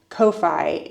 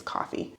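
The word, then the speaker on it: Ko-fi: here on YouTube from Kofi and coffee I don't know how to say it I guess it's coffee from just people supporting me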